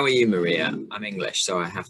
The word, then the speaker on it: Marija: yeah my name is maria maria um so it is pretty much like that yeah stress the sex yeah i will harshly stress the second syllable maria no it's